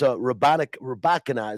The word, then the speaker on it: Rybakina: I don't know if you watched the women's final yesterday, but Elena, I believe it's Rybakina is the way you pronounce her name.